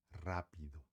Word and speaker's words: rápido: Você escreveria rápido, porém que nem eu falei, toda palavra que comece com R tem um som forte e vibrante. Então, a gente fala rápido, rápido.